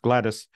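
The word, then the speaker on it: Gladys: on The Headstone um though in the family it was always pronounced gladus is recorded as the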